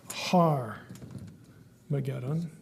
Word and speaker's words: Armageddon: make it bigger here Armageddon has a rough breathing Mark for those of you who've had Greek so it's pronounced har mageddon an h and so